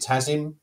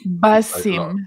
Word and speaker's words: Basim: Is it Tazim? Am I right in saying that's Alec? Basim.